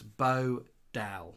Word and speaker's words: Bodell: Joanne says, yes, it's Bo Dell.